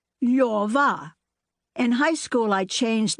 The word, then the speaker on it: Lyova: Position your tongue for an L, O. Then say yor, then say va, Lyova.